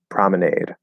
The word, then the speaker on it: promenade: But what syllable is stressed the most in lemonade, promenade, and colonnade? That. Lemonade, promenade, colonnade. Yeah. So it'd be the first syllable.